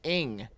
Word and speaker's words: Ng: ] cis white male her twitter at is pronounced ing change how it's spelled that's white supremacist talk